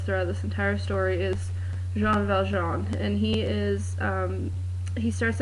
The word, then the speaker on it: Jean Valjean: I've never seen the movie or anything, so I do know that Jean Valjean is pronounced Jean Valjean.